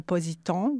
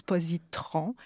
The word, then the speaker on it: positon: associée à un électron qui s'appelle un positon ou parfois on le prononce positron alors c'est une antiparticule